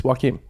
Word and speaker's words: Joakim: It's Joakim.